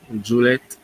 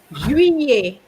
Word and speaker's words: juillet: So remember, CETTE has the same pronunciation as seven. Okay. Then il est parti en, what's July again? Juliet, No. Juillet.